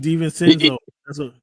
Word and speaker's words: DiVincenzo: Devontae DiVincenzo.